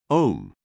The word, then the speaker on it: Aum: Pronounce the Aum as Om.